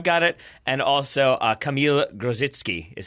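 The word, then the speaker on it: Kamil Grosicki: I think I've got it and also a kamila grows its key is how you say the loud winger for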